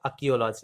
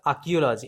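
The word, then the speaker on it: archaeology: Options history, ইতিহাস, option B অ্যানথ্রোপোলজি, নরবিজ্ঞান, option C ইথনোলজি মানে জাতিতত্ত্ব, last option option D অর্থাৎ আর্কিওলজি, এখানে আর এর উচ্চারণটা হয় না, অর্থাৎ আর্কিওলজি এর মানে হলো পুরাতত্ত্ব।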